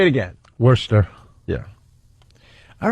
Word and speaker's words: Worcester: Worcester. Yeah. All right. Whatever. They like to call Worcester up there. Oh, Worcester? Worcester. Then take the R out. The R is silent.